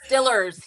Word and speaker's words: Steelers: Steelers or the Pirates? Steelers. Did I say it right? Well, I guess they say it's Stillers here. I still say Steelers.